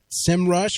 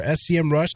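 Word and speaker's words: Semrush: is Michael Stricker of sim rush or SCM Rush depending on where you're at and what how it's pronounced but uh and we're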